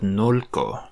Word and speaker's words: nolko: I kind of like this word nolko. Feels more light to me. Nolko. That first syllable would need to be long, because the only way